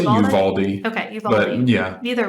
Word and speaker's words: Uvalde: Uvalde? I say Uvalde.